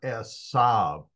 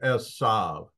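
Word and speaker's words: Esav: uh difference in pronunciation whether it's Esa or esab I say asav and uh every Jew on the planet agrees with me uh the uh the uh VAV sound or the V sound for the end of 's name is uh from the sapharic uh pronunciation which originated in Spain um actually it originated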